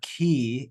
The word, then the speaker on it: chi: Okay, so that's the letter key, and it's pronounced like the CH in chorus or character or choir.